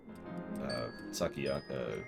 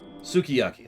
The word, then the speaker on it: sukiyaki: Sakiyaki... God, how do you pronounce that? Sukiyaki.